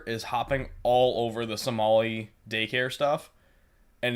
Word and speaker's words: Somali: about it keep saying Somalian, and I'm like, that's not a fucking word. I mean, it is though. Technically. It's Somali. Oh, is it really? Have Not I been saying it wrong Somalian. this whole time? For Somali. years, I have said Somalian. We don't call them Somalian pirates.